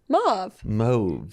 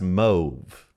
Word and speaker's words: mauve: According to Wiktionary, rhymes with stove is the UK way.